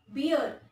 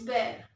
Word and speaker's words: bear: It is not beer, it is bear. Okay, pronunciation kya hota hai? Bear.